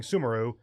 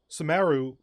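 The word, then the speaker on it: Sumeru: which makes sense I I've been saying sumaru but no second syllable stress and following actual phonetic um phonetic vowels yeah samaru actually is about how you would pronounce it what's weird you mean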